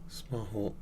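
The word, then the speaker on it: スマホ: Smaho.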